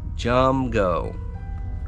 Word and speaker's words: Jumgo: All right, that's spelled just like that, Jumgo.